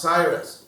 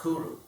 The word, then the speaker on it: Cyrus: Sanskrit another interesting fact in his own language his name is not pronounced Cyrus it's actually pronounced Kuru and so the Bic